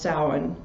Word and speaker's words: Samhain: It's not spelled like that, but it's pronounced Samhain, which means, Samhain means summer's end.